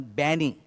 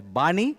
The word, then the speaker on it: BANI: He came up with this new term, BANI. Some people pronounce it as Bani, but he himself pronounces it as BANI. So, sorry ladies, I think of a Gani. Instead of Gani, I think of BANI.